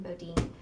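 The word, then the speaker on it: Bodeen: Bodine. S.A. Bodine is an author that's written other books, so any books that are by him, B-O-D-E-E-N, Bodine, I would recommend to be exciting.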